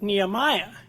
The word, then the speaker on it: Nehemiah: and the person said nehemiah is that in the Bible what's that and he showed him where it was he said oh you mean Nehemia which may be the the hebrew way of pronouncing it and that's a